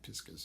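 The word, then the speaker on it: piscis: the astrological sign pisces piscus is more piscus is the latin pronunciation uh so piscator is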